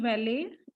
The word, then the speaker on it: valet: This made valet. T is silent, beta.